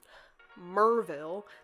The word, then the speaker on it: Maryville: then we went to um merville that's how you say it in Tennessee it's it's spelled like Maryville um and we went to